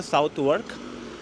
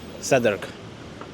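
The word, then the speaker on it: Southwark: और इस एरिया में मैं रहता हूँ जिसे सदर्क कहा जाता है। इंग्लिश में स्पेलिंग पढ़ोगे तो साउथ वर्क, but British English में सदर्क।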